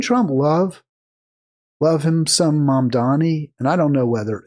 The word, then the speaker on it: Mamdani: Even though it's not it's not M O M like mom, but it's pronounced M A mom.